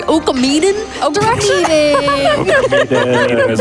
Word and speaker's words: Okamiden: So, let me pronounce it correctly. Okamiden direction.